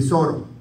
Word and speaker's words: Soro: Allá, la ciudad de Soro. En español le dicen de Soto, pero es de Soro, se pronuncia así correcto, de Soro.